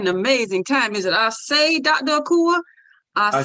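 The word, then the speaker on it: Ase: about what i say means dr akua yes i say means i agree it means let it be so and it's spelled a-s-e with an accent if you can't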